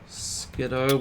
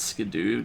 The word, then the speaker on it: Skiddo: Skiddo, which a lot of people pronounce Skidoo just because of the, like, snowmobile brand.